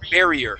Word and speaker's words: barrier: Make sure to pronounce that E, or that I is a long E sound. Barrier.